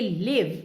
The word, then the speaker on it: live: l i v e when i say live you can't hear the e if you really write